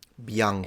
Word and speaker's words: Bianca: And pay attention to the effect you get when you pronounce that last syllable. Bianca. Bianca. Bianca. Notice how you don't Bianca. have that same puff of air? It's a much more muted sound.